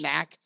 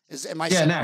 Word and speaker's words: NAK: Is that how you pronounce Nathan Allen Kupperman, your company, NAC? NAC. Right? Yeah, NAC. We have a knack for dentistry.